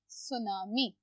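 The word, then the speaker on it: tsunami: हमने अभी डिस्कस किया टी होगा साइलेंट हम लिखेंगे सुनामी सुनामी इस एन हाय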